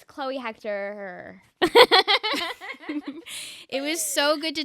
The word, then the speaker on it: Hechter: Tik Tok and Instagram it's just my name Chloe Hector which is spelled h e c h t r and then um someone